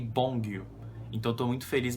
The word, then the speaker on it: Beomgyu: É Bongyu e Taeyeon. São os nomes que eu tava pronunciando errado. Eu sempre lembrava do Taehan e eu falava Taehan achando que era a mesma pronúncia, mas é Taeyeon e Bongyu.